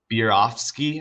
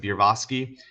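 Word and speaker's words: Berofsky: So Bierofsky, I think is how you pronounce it, Bierofsky.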